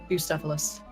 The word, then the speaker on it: Bucephalus: Type it, I can pronounce it for you. Please. Bucephalus.